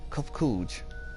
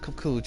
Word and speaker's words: Kupkuj: As for nomenclature to address my individual person, I believe it would be pronounced Kupkuj. Yes, Kupkuj of the Aya.